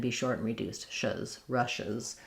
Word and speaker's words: Russia's: It's almost like no vowel there at all. It's actually very similar to rushes, like she rushes from place to place. Rushes is going to have a clear I sound. Russia's is going to be more of an sound, more of a schwa.